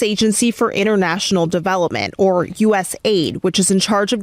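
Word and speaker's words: USAID: refused to give mus did he call it us a ID it's us Aid right he called it USA ID I mean the the the letters are colorized a certain way so that you say it correctly us Aid team access to classifi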